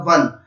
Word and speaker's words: one: करते हैं तो हमें इसका उच्चारण हिंदी में मिलता है, हिंदी ध्वनि में प्राप्त होता है, वो होता है वन, और वन जो है